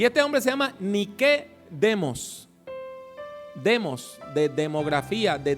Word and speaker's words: Nike: ve todos los días usted ha visto una marca de zapatillas deportivas que se llama ni que lo que pasa que nosotros pronunciamos inglés nike la palabra ni que en griego quiere decir victoria por eso es que